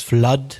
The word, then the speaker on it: flood: So it's blood and it's flood with double O, but then food with double O is a different sound. Yeah. It's oo compared to blood.